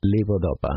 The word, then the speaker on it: levodopa: Levodopa. Levodopa. And you spell it L-E-V as in Victor O, D as in Delta O, P-A, right, as in apple.